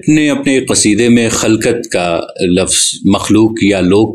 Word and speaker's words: خَلقَت: کا مفہوم الگ ہے۔ خلقت یعنی خے پر زبر کے ساتھ کے معنی ہیں مخلوق، لوگ۔ غالب نے اپنے ایک قصیدے میں خلقت کا لفظ مخلوق یا